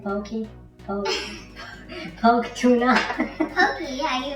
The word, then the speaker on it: poke: No, that's how you say it, pokey.